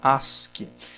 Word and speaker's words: ASCII: é o código Ask se escreve a s c i i mas se fala se pronuncia Ask esse código aqui ele